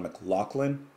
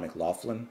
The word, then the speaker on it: McLaughlin: I think it's John McLaughlin, not John McLaughlin.